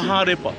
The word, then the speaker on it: Maharepa: Comment tu prononces? Maharepa.